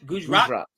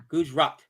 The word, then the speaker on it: Gujarat: Gujarat. Gujarat. I keep saying it wrong. Thank you for helping me out. Gujarat.